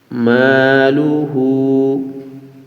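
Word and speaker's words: مَالُهُ: উল্টা পেশের জায়গায় আমরা এক লিফ টানব হু মালুহু মালুহু আমরা এখান থেকে শুরু থেকে বলি মাহু আনহু এ হাটা আমরা নরম করে পড়ব হালকা আওয়াজে বলব আনহু মালুহু মালুহু ও জবর ওয়া মিম আলিফ জবর মা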